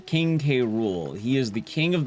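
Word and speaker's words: King K. Rool: No, K Rule uh pronounced uh King K Rule.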